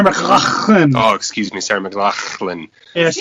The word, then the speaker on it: McLachlan: Oh, excuse me, Sarah McLachlan. Yeah, so you gotta sound like you're hawking up a loogie in the middle. Well, she's actually, Mike, she's from Canada, so it actually gets the clean pronunciation.